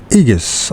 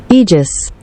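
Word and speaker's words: aegis: to live under the igus of fate and what does it mean anyways what does egus mean egis egis I still can't say the word egis the a is not pronounced egis the protection backing or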